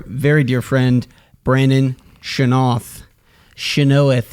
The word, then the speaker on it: Chynoweth: Chynoweth is the proper pronunciation, actually.